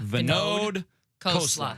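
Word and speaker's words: Vinod Khosla: Venode Kla Kosla Venode Kla is how you is how you print because he was he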